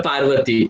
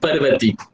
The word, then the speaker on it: Parvati: Some people maybe pronounce it as the Parvati, but it's called as Parvati.